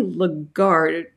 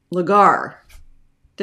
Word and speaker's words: Lagarde: I'm so lucky because Susie legard lagar did I say it correctly at all you said it well lagard yes that's brilliant all right